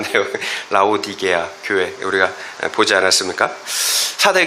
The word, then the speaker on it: 라오디게아: 여러분 사대교회 우리 지난주에 여러분 수련에 하면서 사대교회와 라디 라오디기아이 발음이 잘 안 돼요. 라오디게아 교회 우리가 보지 않았습니까?